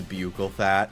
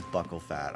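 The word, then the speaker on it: buccal: my British ass pronouncing it as bugle fat. I also called it bugle fat cuz why wouldn't it be and then I found out it's buckle fat.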